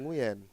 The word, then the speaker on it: Nguyen: Nguyen itu bukan dibacanya yang Nguyen. Gimana Oh, cara bacanya? Nguyen. Nguyen. Ya, gitu. Benar. Pakai W ya justru ya. Iya, bukan jadi I. Nguyen. Ah.